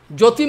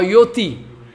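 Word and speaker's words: ज्योति: Somebody is speaking, Jyoti Maharaj coming. I say, what is the name? Jyoti or Yoti?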